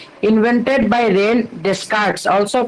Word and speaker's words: René Descartes: The original pronunciation of this one is Rene Descartes. Descartes nahi. That is silent.